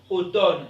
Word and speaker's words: automne: ok c'est les épaules on dit automne elle ne se prononce pas on dit condamné